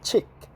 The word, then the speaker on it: 칡: We call it chick, like chick. Hey, nice chicks, man. Hey, nice chick. Same pronunciation, chick.